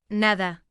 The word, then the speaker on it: nada: Finally, one subtle but important phonetic detail is the pronunciation of D between vowels. In both dialects, it tends to soften to De, like in nada becoming, nada.